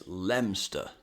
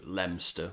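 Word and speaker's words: Leominster: Here's Lemster. Yes, that's right. The O, I and N are all silent. Why? I haven't the foggiest idea, but the train announcements on the way into Lemster will clue you into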